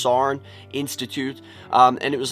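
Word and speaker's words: Saarne: called the sarn is i think it's pronounced sarn institute um and it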